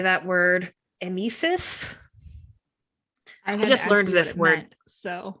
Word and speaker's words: emesis: It is pronounced emesis. I just consulted Google. Thank you, Google. It is emesis.